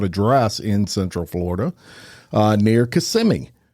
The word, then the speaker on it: Kissimmee: Cloud address in Central Florida near Kissimmee. Is it Kissimmee? Kissimmee, yeah. Yes, I said it right. I was waiting for somebody to pronounce it correctly for me.